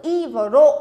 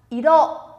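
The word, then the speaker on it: 色: Chúng ta có từ iro là màu sắc nhá. Màu sắc sẽ đọc là iro.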